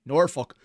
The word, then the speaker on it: Norfolk: mean Norfolk sorry let me say it correctly Norfolk for the Brew alfabusa Wizard game can you